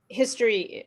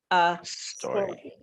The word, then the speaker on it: story: you aware is that story in Portuguese is history. Okay, but history for English speakers is something we study in school. So this is a different problem. You have to start with a sound, not a history.